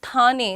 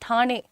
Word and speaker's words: ठाणे: एक तो मेरा प्रोनाउंसिएशन अच्छा नहीं है, इट्स नॉट थाने, इट्स ठाणे, ठाणे I think, I am sorry but मैं कोशिश करती हूँ, ठीक है।